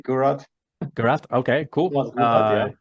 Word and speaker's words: Gurrath: Gurrath? Yeah, in Germany we just say Gurrath.